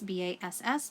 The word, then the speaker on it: bass: clef is spelt looks like the word bass ba SS but it is pronounced bass clef CLE F and any music